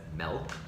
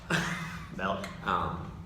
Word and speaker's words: Milk: Last performance was by Milk, or as Ru says, Melk. Milk. That is her pronunciation, not mine.